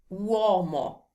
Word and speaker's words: uomo: U, O, M-O, uomo. See? You will give the right time and attention to each one of the vowels, and this will make